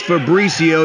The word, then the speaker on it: Fabrizio: It's Fabrizio. You've said his name wrong 3 times right now.